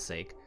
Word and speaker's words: sake: common with finnegan's wake sake spelled the same as sake rhymes with wake finnegan's wake is a